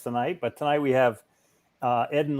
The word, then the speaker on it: Eden: But the right pronunciation for my name, it's Eden.